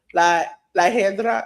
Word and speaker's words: La Hiedra: Iguana was a special referee because La Hedra, is that how you pronounce it?